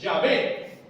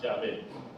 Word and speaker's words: Yahvé: En español se quita la H final, se le pone un acento a la A, y en Yahvé se le quita la H final y se pone un acento en la E.